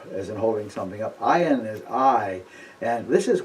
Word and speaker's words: ayin: is very similar to the pronunciation of aleph, but a little different. Those of you that know some of the African dialects will notice a certain similarity. Ayin is ayin, and aleph is aleph.